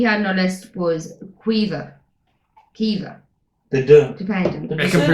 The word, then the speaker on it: Caoimhe: The so second one we had on our list was Kiva, They do. dependent. Did It they can say be- that? yeah, it can be pronounced two different ways.